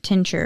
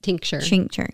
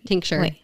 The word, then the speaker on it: tincture: mentioned the word um Tincher am I saying it right tincture tincture people always thinking like a t-shirt so like me myself